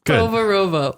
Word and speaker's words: Povarovo: To say it right, it's Povarovo.